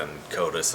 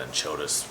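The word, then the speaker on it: Enchodus: one of them called, they pronounce it in Codus, I don't know why I call it in Chodus for whatever reason, I guess potato, and Chodus fish that had, it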